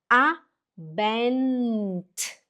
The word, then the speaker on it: Abend: Faz assim, põe a língua para cima e a chata a língua lá em cima e faz um, hum. Este é o som do N.